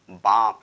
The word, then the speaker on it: balm: और एसेंशियल भी हमारा एग्जांपल था कि जब भी किसी भी वर्ड के लास्ट में यल यम का यूज किया जाए, यल यम का यूज किया जाए तो यल साइलेंट हो जाता है, यल का लोप हो जाता है, केवल यम को पढ़ा जाता है ना कि यल को।